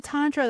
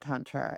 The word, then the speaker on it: tantra: So, so for those who don't know what tantra is, and I I'm English and we tend to pronounce it tantra, but tantra, can you without getting my channel banned?